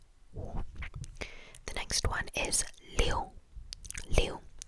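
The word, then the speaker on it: 六: But anyways, 6 is liu, L-I-U, liu, liu, liu, liu, liu, liu, liu, liu, liu.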